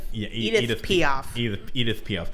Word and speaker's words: Edith Piaf: I said that name wrong. Edith Piaf. Yeah, Edith Piaf.